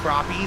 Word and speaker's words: crappie: It's pronounced crappie, the white crappie.